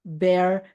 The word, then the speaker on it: bear: Bear, bear. Bukan beer ya. Bukan beer and bear, but bear, bear.